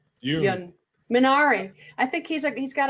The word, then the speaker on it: Yeun: What about am I pronouncing his name correct? Stephen Yeun. Yeun.